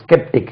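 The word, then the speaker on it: sceptic: பேரொழி எப்ப பார்த்தாலும் சந்தேகப்பட ஸ்கெப்டிக் his very ஸ்கெப்டிக் ஐ வாஸ் ஸ்கெப்டிகல் about his teaching ஸ்கெப்டிக் தென் இதே வந்து எஸ் சி இபி டி ஆர் இப்படி வந்தா இது செப்டர் எப்படிங்க இது ஸ்கெப்டிக் இதுல க வரும் ஸ்கெப்டிக் இதுல செப்டரா செப்டர் செப்டர்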